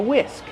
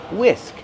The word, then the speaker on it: whisk: I'm using a whisk. This is called a whisk. How do we pronounce whisk? Whisk. The H is silent. Just use the W sound. WW whisk plus the short is sound like this.